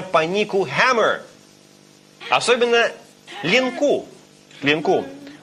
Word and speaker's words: Линку: Линку. Ударение на последний слог.